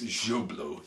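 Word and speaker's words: Joblot: there called job lot it's jublo job lot that's how it's spelled and there's mr lump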